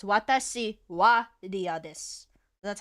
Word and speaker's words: は: So it's watashi wa ria desu. That's how you write that. Ah. But you It's pronounce a it little as bit weird. You that pronounce it is as weird. wa instead of ha.